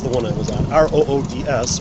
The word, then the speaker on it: Roods: one I was on, R-O-O-D-S, which word is pronounced Roods, which I find the owners of that house very.